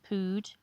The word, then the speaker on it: pood: Weaponry numbering 93 pieces, silver dishes weighing 1 pood. Pood rhymes with food, an old Russian unit of mass approximately equivalent to 16.4 kilograms.